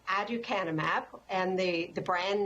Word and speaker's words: aducanumab: So the pronunciation, aducanumab, and the brand name is Aduhelm.